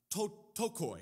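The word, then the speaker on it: πτωχοί: This word for poor here, okay, you're getting a little bit of Greek lesson today, and excuse my pronunciations, but tokoi is how you say this.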